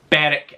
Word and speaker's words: Berwick: But anyway, Berwick, it's pronounced.